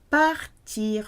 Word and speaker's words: part: For example, partir de, to leave from or to start from. Je pars, P-A-R-S. Tu pars, P-A-R-S. Il, elle, on part sounds the same but spelt with a T.